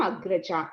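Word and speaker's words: Agrajā: When you say female, you have to extend the last syllable. So instead of Agraja, which was a brother, it became Agraja. Instead of Anuja, which is a brother, it became Anuja for sister.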